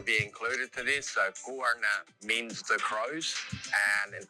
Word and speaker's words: Goorna: So to pronounce it more correctly, emphasize the first part. Guarna, not Guana. Not There you good.